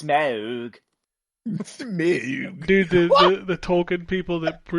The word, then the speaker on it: Smaug: Is not Smog. I don't know how you would assume the name of my dragon is Smog. It's Smaug.